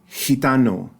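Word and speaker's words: gitano: all the way so hitano and that g is also underlined and it's that H sound in the word heartan mikant and then I've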